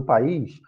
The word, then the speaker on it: país: E é claro, gente, só para lembrar, aqui, tanto nesse exemplo do caída, como no caso do país, o I, ele é a sílaba tônica.